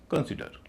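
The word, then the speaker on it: consider: क्योंकि वर्ब है और वर्ब में दूसरे पर टेस्ट होगा। पहले पर नहीं होगा।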